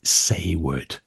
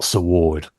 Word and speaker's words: Saward: Do you know, while I've got the chance, it's Eric Sayward, not Saward. Oh, I do it all the time, don't I? Well, no, I can sometimes hear I'm Mark. Saward and sometimes I'm Sayward.